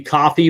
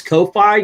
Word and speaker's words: Ko-fi: It's actually supposed to be coffee, but I said it wrong a long time. I thought it was Ko-Fi because the way it's written, it says Ko-Fi, It's supposed to be like co-finance, but Yeah.